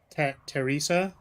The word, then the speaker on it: Theresa: on a second yeah is it pronounced like Teresa or is it actually Theresa or Teresa's and Teresa Teresa yeah it is Teresa right do you want